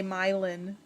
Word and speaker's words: Milan: also um we have it's spelled like milan but they say myelin cracks me up sharon